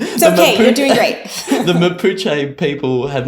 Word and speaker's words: Mapuche: around why haven't the malpoche i hope i've pronounced that correctly jennifer i don't know if you could help me out there we would say mapuche mapuche almost almost my spanish class